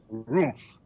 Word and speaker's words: Roomf: They pronounce it Roomf. It's budget hotels with extra oomph.